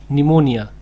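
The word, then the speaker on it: pneumonia: यहाँ पर पी जो है आपका साइलेंट है, NEUMONIA, निमोनिया, निमोनिया जो है वो बताते हैं हम आपको।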